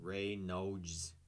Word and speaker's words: Reynolds: And Reynolds does not have the same letters as the pronunciation. Reynolds. Rebecca Reynolds.